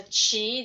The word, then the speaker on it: qi: familiar with this key if you pronounce as a chi that's from China and if you pronounce